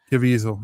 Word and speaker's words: Caviezel: Caviezel, yeah.